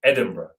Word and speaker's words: Edinburgh: was actually my inspiration because obviously you don't say edinburgh the way you write edinburgh um and it kind